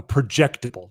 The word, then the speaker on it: projectable: project a a project a projectable you know put the emphasis on emphasis on the second syllable.